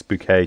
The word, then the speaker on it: Bucket: But she pronounces her surname as Bouquet, trying to sound posh and that.